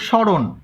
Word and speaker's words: স্মরণ: তোমরা যদি লেখো স্মরণ, দেখো এই যে স্মরণের ক্ষেত্রে, স্মরণের ক্ষেত্রে তোমাদের এই যে মোয়ের উচ্চারণ কি হচ্ছে, হচ্ছে না, শুধু দন্তস্বর উচ্চারণ হচ্ছে। তাহলে এটা স্মরণ, এটার উচ্চারণ এরকম স্মরণ।